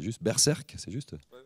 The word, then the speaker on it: Berserk: du projet alors je vais essayer de le prononcer juste berserc c'est juste Berserk présenté donc par Quentin estvz et Kevin ngo